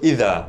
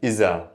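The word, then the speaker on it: إذا: First, we have the word idha, which means if, idha. In dialect, we pronounce it iza, iza.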